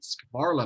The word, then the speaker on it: Skvarla: privileged today to have as my guest Skvarla. Am I pronouncing that correctly? You are, yes, it's Okay. Skvarla.